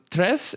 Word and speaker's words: Tres: Tres is a Spanish word for tree, okay? And it's pronounced tres.